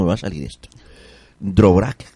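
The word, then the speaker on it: Dvořák: Dvorak o Dvorak. Borchak, se pronuncia Borchak, gracias.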